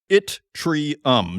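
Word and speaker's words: yttrium: is with itrium and it is spelled y tt r iu m. I went to chat gpt to find out how this rare earth is pronounced and it is pronounced itrium.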